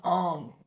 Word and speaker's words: Aang: They're like, well, it's not Aang, it's Ong.